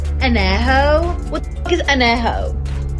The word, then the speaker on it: Añejo: least you can do is learn how to pronounce the tequilas correctly. Blanca, Reposado, Añejo. What the fuck is Añejo? It's Añejo, puñetas.